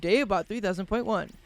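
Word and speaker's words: Dave-Bot 3000.1: all new and improved Dave bot 300.1 the point on is silent Dave bot tells us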